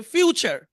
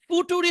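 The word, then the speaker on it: future: ই রি সব মিলে কি হবে ফুটুরি কিন্তু উচ্চারণ হবে ফিউচার ভিন্ন না মানে কিন আম থেকে লিচু হয়ে গেল না ফুটুরি হওয়ার কথা কোথায় ফিউচার মানে মিলই তো নেই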